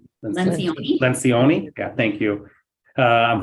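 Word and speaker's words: Lencioni: Is it Len Lion? Lencion.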